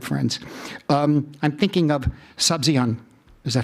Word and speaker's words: Sabzian: Um, I'm thinking of Sabzian. Is that how you pronounce it?